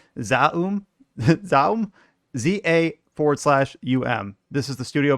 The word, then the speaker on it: ZA/UM: Another thing I had to look up how to pronounce. Zaum, ZA/UM.